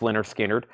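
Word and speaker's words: Lynyrd Skynyrd: skinnard their debut album which is called pronounced Leonard skinnard gatefold 36.99 Leonard skinnard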